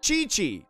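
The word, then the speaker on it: Qiqi: chat cheese sound oh chi chi so it's just pronounced like chi-chi and what does lisa's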